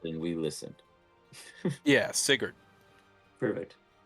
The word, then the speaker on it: Sigurd: pronounced it and we listened. Yeah, Sigurd.